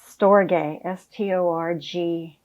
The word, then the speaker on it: storge: He gives a term to, he calls it affection, but it really, I think in Greek is called storge, S-T-O-R-G-E. He says it's pronounced storge.